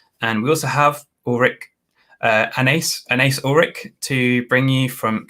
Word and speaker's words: Anaïs: So it's Anais and then Urlichs, which is also quite difficult to pronounce for German. So it's fine. Is that a German name? No, the last name is. The first name is French or Northern African, depending on where how you see it.